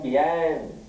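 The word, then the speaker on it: fiancé: तो फैंसी कहते हैं सर? गलत नहीं, पहले बताओ मुझे। जस्ट FIANCY FIANCY, आपने स्पेलिंग गलत बोली।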